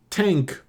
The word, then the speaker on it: Tangk: We got Tangk, spelled like Tang, the astronaut drink, but with a K, by Idols.